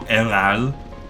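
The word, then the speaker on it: Héral: Christophe Heral, or Heral, given that the French don't pronounce their H's quite often at the start of words.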